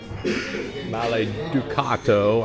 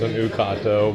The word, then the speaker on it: Maleducato: Maleducato. I said it wrong earlier because the D is backward and colored out, so I thought it was an Ucato, but Ducato.